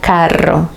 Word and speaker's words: carro: Pero si la ves duplicada, el sonido es fuerte. Entonces tendrías la palabra carro. Caro is expensive. Caro means expensive, mientras que carro means car.